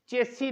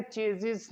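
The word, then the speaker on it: chassis: जाती है, उसको हमारे चेसी नंबर बोला जाता है, जबकि उसकी एग्जैक्ट प्रोनाउंसिएशन है चेजिस नंबर।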